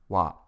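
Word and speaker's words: は: topic into the conversation it is written as ha but is pronounced wa let's use the topic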